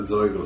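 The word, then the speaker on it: Zoigl: i've polished off my soil house yeah we're on the same thing which i i insist on pronouncing the german way the zoyo house so i go so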